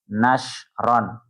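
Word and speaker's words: نشرا: Berarti untuk qiraah yang ketiga ini bacanya nasron.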